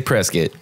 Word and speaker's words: Prescott: the the official way so the locals say Prescot everybody else says Prescott okay yeah and